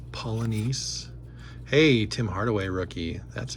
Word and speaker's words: Polynice: Olden Polynice. Some of these names are fantastic. Remember when you were a kid, you kind of had swagger when you could pronounce some of the names. Actually, it's Polynice.